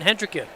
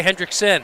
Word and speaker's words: Hendricken: When did you start dropping the S in Hendricken? Because you always used to say Hendrickson.